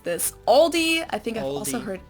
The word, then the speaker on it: Aldi: is a German grocery store oh I think Aldi or Aldi yeah it should be like Aldi